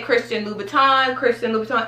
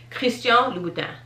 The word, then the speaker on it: Christian Louboutin: Okay, so people would typically say Christian Louboutin. It's Christian Louboutin. That's a little challenging, but trust me, that is how you properly pronounce it.